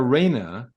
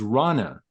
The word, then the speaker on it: Rana: Just so you know, Shadi, you call Rana Reina, and it's not Reina. Her pronunciation is Rana.